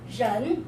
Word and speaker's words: 人: Pronunciation is 人, everyone?